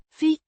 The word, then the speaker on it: fick: Pronounced. Fick. With a short. I. Sounds similar to the I in, sit.